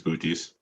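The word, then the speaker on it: Butes: Oh, yes, it's Booties. Booties final. Booties with the correct pronunciation is correct.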